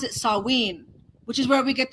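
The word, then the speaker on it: Samhain: look at it spelled you would think it's Sam Hayne s-a-m-h-a-i-n Sam Hayne but they pronounce it saween which is where we get the Halloween from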